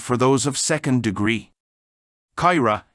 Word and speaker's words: Kaira: Kaira is the word for those of third degree which they pronounce kra.